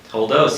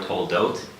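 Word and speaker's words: תולדות: Toldos, yes, Parshas Toldos, or Toldot, depending on the pronunciation, Ashkenazi or Sephardic, Toldot or Toldos.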